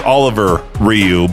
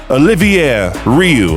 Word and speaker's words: Olivier: I thought it was Oliver Rioux, but no, there's an extra I in there. Olivier Rioux.